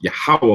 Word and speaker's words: Yahweh: You'll have the YHWH, and that's Yahweh when you just go through the pronunciation.